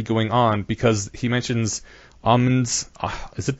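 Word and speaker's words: Aumann: have been already going on, because he mentions Ahmed's, is it pronounced Augmen's agreement Ahmed, theorem? I think. Say it. Ahmen? Ahmen.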